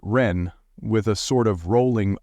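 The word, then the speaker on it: 仁: And although we romanize this word in English as jen, it is pronounced ren with a sort of rolling r.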